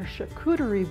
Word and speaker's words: charcuterie: Randy is going to tell us about something called a charcuterie board. Am I pronouncing that right? You are. It's a French word.